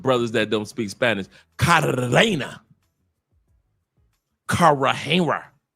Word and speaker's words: Cartagena: that don't speak Spanish, Cartagena. Cartagena. Because y'all don't know how to pronounce Cartagena. Roll your tongue. Cartagena. It's not Cartagena, it's Cartagena. I'll say it again. It is not Cartagena. It's Cartagena. Cartagena.